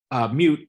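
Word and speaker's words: Miut: Mute, M-I-U-T is how they spell it. Sometimes it's M-O-O-T, but usually it's M-I-U-T, and it means people of.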